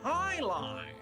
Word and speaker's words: jai alai: pronounced highline.